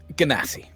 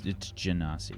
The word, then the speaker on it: Genasi: About Genasi, you can roll me a history check. Can I cast a spell instead? I mean, that's up to you, man. Ganassi. 10 minutes though. It's Genasi, yeah.